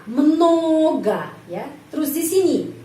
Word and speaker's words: много: Jadi huruf O ini dibaca tetap huruf O, sound O, tapi O ini dibaca A. Много ya.